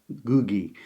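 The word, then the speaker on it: Ngũgĩ: interviews of him and he seems to say that to my ear the N seems to be completely silent in pronunciation but I'm bound to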